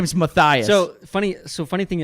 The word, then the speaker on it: Matthias: name right and so if you look at how it's like sound it's like Mathias and so I'm like